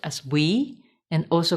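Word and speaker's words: WEEE: category is waste electrical and electronic equipment often pronounced as we and also called e-waste apart from potentially valuable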